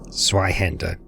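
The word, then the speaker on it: Zweihänder: Now, last time I was down here with a character, I had a Zweihander.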